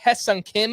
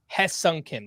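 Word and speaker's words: Hyeseong Kim: so far I am sorry the Dodgers option Hung Kim to the miners and if you're wondering why I'm saying it like that it's spelled High Sun Kim I listened to a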